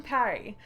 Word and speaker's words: Perri: And he's a little woven donkey, and I call him Parry. But I spell it like Perri, because he reminded me of the word perito, which is like little dog, and little donkey, little dog.